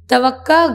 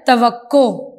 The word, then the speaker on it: توقع: توقع کیا لفظ ہے یہ توقع توقع لفظ نہیں ہوتا غلط العام میں کہ یہ میری توقع نہیں تھی توقع غلط تلفظ ہے درست تلفظ ہے توقع یعنی امید ساتواں لفظ ہے